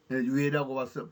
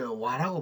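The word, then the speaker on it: 倭: 연구하지 않는다는 것입니다 삼국지는 인전 외라고서 바람 하지만 이제 와라고 발음해야 됩니다 그 외인들이 일본 열도에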